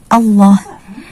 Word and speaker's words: Allah: Kalau kita tulis dengan huruf Latin adalah A, double L, kemudian O, kemudian H, Allah. Tapi yang sering kita temukan adalah munculnya huruf W di lafaz jalalah ini. Allah, Allah.